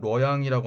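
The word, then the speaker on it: 洛阳: B는 낙양, 중국어 발음으로는 뤄양이라고 하는 지역입니다.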